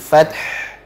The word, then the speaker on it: الفتح: Adapun terakhir ta sukun, kemudian haknya juga sukun, dua-duanya harus diucapkan, dua-duanya harus diberikan sifatnya masing-masing. Fat, kemudian terakhirnya finishingnya adalah di huruf ha. Jadi fath. Baik. Jadi alirkan ha-nya karena punya sifat rokhawah ha-nya.